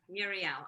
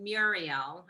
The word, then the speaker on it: Muriel: This is easier to pronounce. Yeah, Muriel. Although I say Muriel and you say it Muriel.